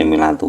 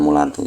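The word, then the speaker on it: ملاط: Jadi tadi membacanya kan mesti milatu bukan mulatu ya.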